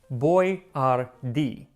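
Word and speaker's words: Boyardee: his name right so he started spelling it out phonetically boy r d and unfortunately they didn't specify where the accent was so Chef boardi quickly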